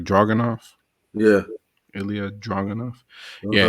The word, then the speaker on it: Ilya Dragunov: Then you had oh yeah, Dragunov. That's how you pronounce it, right? Dragunov.